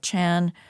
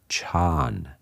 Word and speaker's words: chan: When that word is brought into the Chinese language, they prefer monosyllables, so they chop off the last A and it becomes chan. So jhana and chan, or chan, is the